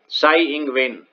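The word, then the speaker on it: Tsai Ing-wen: ये साई अपने साई बाबा नहीं है, टी साइलेंट है इनके नाम के आगे का, साई इंगवेन।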